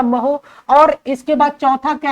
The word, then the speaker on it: mho: ठीक है, और उसके बाद इसका अगला मात्रक का महो है, MHO, महो। आप जो भी प्रोनाउंसिएशन करते हो ध्यान रखिएगा, महो।